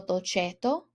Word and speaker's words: dolcetto: Whenever you have a CE or a CI, the letter C sounds like a ch, so dolcetto.